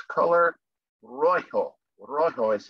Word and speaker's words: rojo: And in Spanish, it's color rojo. Rojo is how you pronounce that.